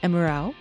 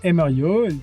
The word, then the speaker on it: Emeriaud: Please correct my pronunciation of your name and let let the listeners know where you work and then we'll get started with update on the case. Yes. So that's Earo. That was perfect.